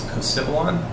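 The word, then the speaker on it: Kosiavelon: Uh, the A is silent and it's coilon.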